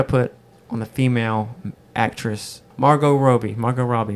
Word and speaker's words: Margot Robbie: on the female actress Margot Roby Margot Robbie Margot Roby how do you say it I think it's Margot Robbie Margot Robbie I've always heard Roby really yeah that's the